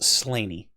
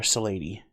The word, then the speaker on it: Slaney: Slaney. And that is Gaelic. So even though it's written like slain, it is pronounced slainy or saney.